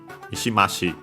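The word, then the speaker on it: 三島市: So yeah, the accent before the shi, Mishima-shi.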